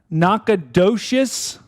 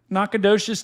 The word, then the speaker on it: Nacogdoches: Where is how do you pronounce that? Nacogdoches.